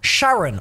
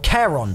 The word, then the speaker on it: Charon: is the Gullah of Sharon or Charon depending on how you pronounce it this one I think